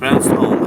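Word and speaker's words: Ogham: us about the history home actually okay because the gh's g is silent if you look at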